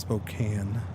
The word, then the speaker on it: Spokane: It's actually pronounced Spokane, but you know, it's spelled Spokane.